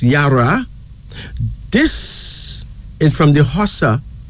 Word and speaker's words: Yara: was born in terms of prosperity and finally Yara Yara why a r o pronounced Yara this is from the HOSA people of West